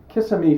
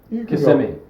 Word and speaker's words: Kissimmee: Puddles and I are here in Kissimmee, Florida. Is that how you pronounce it, Eric?